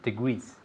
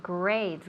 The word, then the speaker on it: degrees: We say degrees. Perfect. Great. So, again, we don't say grades. Grados are not grades in English.